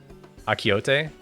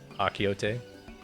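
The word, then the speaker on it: achiote: Akiote? Like Don Quixote? But Akiote?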